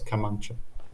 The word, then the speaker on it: kamancha: It sounded like you were reading Wikipedia with your own experience about Azerbaijan on the Kamenja. Am I pronouncing it right? Kamenja? Yes, Kamancha.